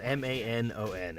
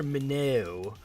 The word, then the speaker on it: Manon: is spelled M-A-N-O-N, and while I understand it's probably pronounced like Manon or something like that, because I believe the character is French, he's calling her Minnow while he was simultaneously playing a Legend of Zelda game where the primary antagonist in that game's name is spelled G-A-N-O-N. So why would you not just default to Menon?